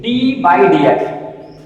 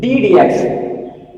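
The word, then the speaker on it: d/dx: Some students used to pronunciate it d by dx. No, it is not d by dx. It is together. So how we will pronunciate it? D dx, not d over dx.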